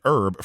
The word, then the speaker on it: herb: from the Japanese and Herb from the French isn't that right British people that pronounce the h in our oh right